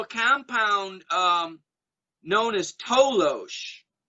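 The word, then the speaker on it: toloache: there was also a compound um known as tolosh it's spelled t-o-l-o-a-c-h-e and that was a plant native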